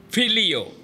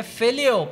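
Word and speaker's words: phileo: And then there is the word philio. और उसके बाद एक और शब्द है प्रेम के लिए और उसे कहते हैं फिलियो प्रेम. Now the spelling is P-H-I-L-E-O.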